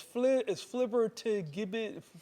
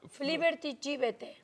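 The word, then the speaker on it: flibbertigibbet: So how would you pronounce that? It's flibber to gibbet. Flibber. Flibbert, Egibit. No, Fliberty Gibete.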